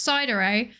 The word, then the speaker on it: Psydere: It's pronounced cider, actually. Thank you for the for the question. Um, it's pronounced cider. It's meant to be a pun on like sundere and dar dare.